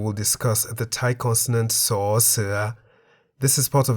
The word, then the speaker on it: ส: The Thai consonant saw, se sounds like an S at the beginning of a syllable. Saw. At the end of a syllable, saw, se sounds like a T.